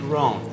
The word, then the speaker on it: Rohn: It's Rohn. It's R-O-H-N, Jim Rohn. Hey, pal, you don't have to spell it out for me.